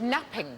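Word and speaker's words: knapping: no but you're right it begins with a silent k when we made early tools what do we make the out told Flint napping napping napping yes Flint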